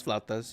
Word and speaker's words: flautas: we go quesadillas um flautas I'm not sure if I'm pronouncing that correct yeah probably not it's flat does you got it yeah